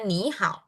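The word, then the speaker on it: 你好: Jadi nada tiga kalau bertemu dengan nada tiga yang di depan tuh harus dibaca menjadi nada dua ya. Jadi bacanya nihal ya.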